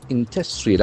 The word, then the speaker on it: industrial: Industrial. Accent for the second syllable.